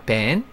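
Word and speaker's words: ban: 레이스 밴 아니죠 자 레이스 밴은 밴입니다 벤 반 아니고요 벤 벤이란 무엇인가 어 는 고대영어 반에서 왔고요네 ipa n 벤이라고 읽으라고 돼 있습니다 자 타동사로 금지하다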